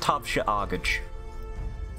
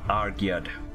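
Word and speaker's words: Tabhse Airgead: And she butchers the pronunciation. I think it's Tabsi Argid or something like that. Tabsi Argid. Argid? Argid. Look at this. And she writes it out for you. It's T-A-B-H-S-E A-I-R-G-E-A-D. Pronounced Tavsha Argage. Tavsha Argage. Okay, get it. Argyad. I got that pronunciation slightly wrong.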